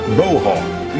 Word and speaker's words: Bo: as tough as a boar hog, only they pronounced it Bo Hog.